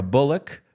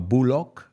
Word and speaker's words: Bullock: i'm out of here audi hey i'm always looking for that translation uh so yeah the movie stars sandra bullock no bulok in english it's bullock it's bullock sandra bullock